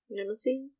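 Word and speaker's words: Mnemosyne: Nemesine. There we go. You gotta pronounce the E at the end too.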